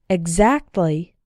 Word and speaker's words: exactly: should be explained explain the other way to pronounce X is like G Z as in the following words listen and repeat exactly example exam exhibit exotic